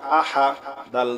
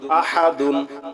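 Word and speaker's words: أَحَد: হা পেশহু কুলহু আল্লাহু হামজা জবর আ হা জবর হা আহা দাল দুই পেশ দুন আহাদুন থামলে হবে আহাদ ঠিক আছে কুলহু আল্লাহু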